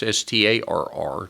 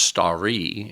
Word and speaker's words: Starr: It's Starr, not like up in the sky. And in Middle English, it's pronounced starry, and it means hawk.